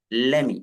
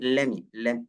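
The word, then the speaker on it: let me: ഒന്ന് പറയാൻ പറ്റുമോ okay ലെറ്റ് മി ലെറ്റ് മി എന്ന് പറയരുത് ലെമി ലെറ്റ് മി എന്നുള്ളത് ഒരു തെറ്റായ ഉച്ചാരണമാണ് ഓക്കേ ലെമി ഒന്ന് പറഞ്ഞു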